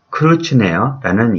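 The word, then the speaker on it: Kreutznaer: 그 집안 때문에 저는 로빈슨 크루츠네어라는 이름을 갖게 되었습니다. 여기서 크루츠네어는 독일식 성 같죠? 네, 독일 발음으로 하면 달라지겠지만 영어로는 크루츠네어 이렇게 되겠습니다.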